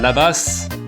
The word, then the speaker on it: là-bas: Parce que bah, bien sûr, il prononce les lettres qui ne se prononcent pas normalement en français, les lettres muettes. Il n'y a qu'en français, donc il va le prononcer la basse, là-bas.